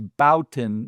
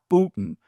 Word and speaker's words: Bouton: He said, "So the next time you yell out my name, pronounce it correctly. My name is Bowin, not Bootin, and you're always yelling out, "Hey, Bootin.